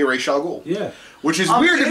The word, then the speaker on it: Ra's al Ghul: They both say Ra's al Ghul.